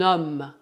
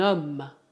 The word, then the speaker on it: homme: Cuidado, o H é mudo, então temos que fazer a ligação. Un homme. Un homme.